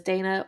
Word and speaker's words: Dina: So, but it could have been just the way it was spelt, but they pronounced it as Dana, or somewhere someone got it, misinterpreted or whatever, and just went with Dana, and she never corrected anybody.